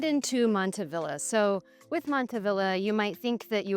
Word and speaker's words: Montavilla: of the area, and everybody's decided to keep the hard pronunciation of the L's in order to preserve the original naming.